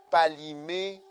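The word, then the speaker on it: Kpalimé: Cara socodé palimé lomé.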